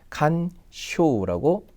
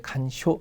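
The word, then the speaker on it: 干渉: 쓰면 좋겠다라는 뜻이에요 그래서 간섭이라는이 한자는 칸쇼라고 2번과 같이 음독으로 이렇게 됩니다 그래서 간짜는 그대로 칸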